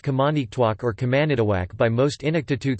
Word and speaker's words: Qamaniqtuaq: Thus, the Inuktitut name of the hamlet of Baker Lake is pronounced Kamanitwak or Kamanitawak by most Inuktitut speakers, but is rendered Kamanitwak in Baker Lake itself.